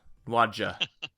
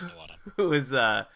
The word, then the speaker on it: Nuadjha: Nuada. The Nuadjha, JH is silent. Nuada.